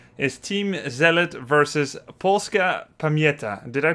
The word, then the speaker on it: Pamięta: There's an N before the T for some reason, apparently. There is Pamięta. One. There is one. You mean I should actually write it, or it's just no, pronounced? No, it's pronounced, apparently. Hmm. Apparently that E adds an N on the end.